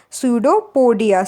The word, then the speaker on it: pseudopodia: write the p because while writing the spelling p is not silent but when we will discuss or when we will talk about it then p is silent so that's why we will discuss and pronounce it this word as a pseudo podia students okay so